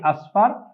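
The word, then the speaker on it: أصفر: আমরা এখানটা লিখে দিয়েছি আরবি আসফার। একই সাথে সেটির উচ্চারণ দেয়া আছে আসফার।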